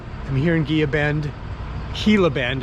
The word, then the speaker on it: Gila Bend: here in Gia Bend Gila Bend is how it's pronounced and uh I think